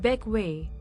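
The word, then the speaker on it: Bequia: beckway the second largest of the grenadines charming beckway pronounced beckway is a popular yachting destination with a rich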